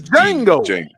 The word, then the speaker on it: Django: Now, one thing I will say, it's not dango, It's Jango. Oh, my bad. The D is the D is silent.